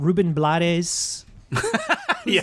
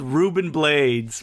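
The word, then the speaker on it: Rubén Blades: oh wow he's in this movie we've got ruben blattes that's how his name is pronounced it is that um second the second in command he has been called ruben blades by like that's the cool name blaze yes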